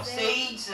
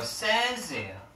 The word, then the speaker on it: says: Sage 아니에요. Sage가 아니고 says예요. So 방금 발음 틀렸던 사람들 써. Says. Sage 하면은 너희들 안 됩니다.